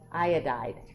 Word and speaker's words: iodide: be a fluoride and the one that sounds really weird but that's how you say it iodine would be iodide yeah it's the only one at people like that just sounds strange but iodide it's the